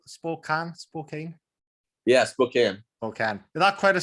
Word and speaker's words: Spokane: Yeah, Spokane.